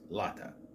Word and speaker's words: Latika: And so Mary is currently still a hunter, and with her friends Carlos and Lata, it's spelled Latika, it's pronounced Lata.